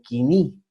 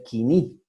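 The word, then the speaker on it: koiné: vamos a ver el griego quini o como se escribe él codine pero se debe leer quini ok el 330 al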